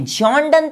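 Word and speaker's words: John Donne: जॉन डन तो है ही, ये प्रोनाउंसिएशन है, ये उनका नाम है।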